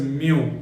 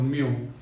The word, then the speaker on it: mu: index by the way this is a greek symbol which is literally pronounced as mu m e w mu so it is written